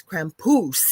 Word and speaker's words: Krampus: And he says, "You over in North America, you don't say it correctly. It's Krampus."